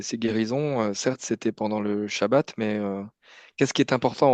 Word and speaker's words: shabbat: Enfin, pour moi, la réponse est évidente, mais hm oui, je crois que j'ai j'ai dit sabbat au lieu de shabbat.